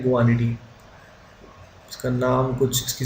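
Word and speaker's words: guanidine: इसको बोलते हैं गुआनिडीन, इसका नाम कुछ, इसकी स्पेलिंग कुछ ऐसी होती है।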